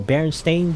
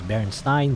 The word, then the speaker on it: Berenstain: i was embarrassing there even though a berenstain bear is the correct pronunciation a lot of people thought it was berenstein bear to me it's bernstein